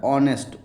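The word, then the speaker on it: honest: तो ऑनेस्ट ऑनेस्ट का उच्चारण कैसे हो रहा है? ऑनेस्ट ओ से उच्चारण हो रहा है जो कि आपका स्वर का उच्चारण हो रहा है। वोवेल का उच्चारण तो इसके पहले क्या लगता है? एन लगता है। एन ऑनेस्ट मैन हो जाएगा।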